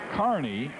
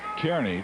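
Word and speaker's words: Kearny: would pronounce it uh Kerney too I believe it is Nebraska Kerney Kerney is what I would pronounce it but he says it's Carney back there name after some guy whose name was Carney so Larry bowling I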